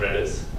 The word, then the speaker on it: Redis: And then we also have another profile store, which is based on Redis or Redis, depending on how you pronounce the E.